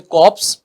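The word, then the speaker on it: corps: वो barely recognisable दूसरा बड़ा आपके पास में कॉर्प्स दूसरा शब्द आपके पास में केवल को इसमें साइलेंट होता है जिसको कोई बोलते हैं इसमें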